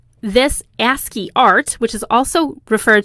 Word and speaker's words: ASCII: had heard of before so ascii is spelled with all capital letters it's an abbreviation a-s-c-i-i and it stands for american standard code for information exchange we're just going to call it ascii going forward this ascii art which